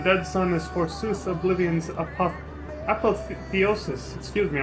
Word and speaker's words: apotheosis: Roiling with torment, the dead sun is forsooth oblivion's apotheosis. Excuse me, I almost said apotheosis. Although that could be it. The O could be silent. I don't know how to pronounce it.